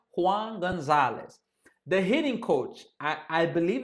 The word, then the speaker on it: Juan Gonzalez: And some of these names I'm pronouncing them in the English way, but don't worry, I'm gonna start pronouncing them in Spanish. So the hitting coach, Juan Gonzalez. John Gonzalez, Juan Gonzalez.